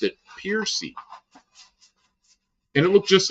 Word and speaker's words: Percy: whoever he was, but we knew him afterwards, and he pronounced it Piercy. And it looked just like that, Percy, P-R-C-Y. And he pronounced it Piercy, which I always thought was so strange.